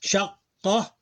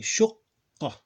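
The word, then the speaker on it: شُقَّة: Shaqqa. Sorry, shuqqa. Pronounce it like shuqqa. It would be pronounced as if it was written like this.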